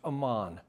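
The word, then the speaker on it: Amon: His son is pronounced Ammon.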